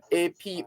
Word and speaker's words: apothegm: An apothegm, A-P-O-T-H-E-G-M. The G is silent.